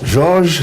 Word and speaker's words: Georges: Bon, en Suisse, on parle Georg. Bon, en français, c'est Georges. En anglais, c'est George.